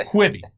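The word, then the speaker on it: Quibi: course we're talking about the kwibi the company whose name isn't even pronounced correctly based on what it stands for quick byte yeah two things first we've previously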